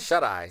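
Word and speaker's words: Shuteye: What is it, Chute Peak? How do you pronounce that? Shut Eye.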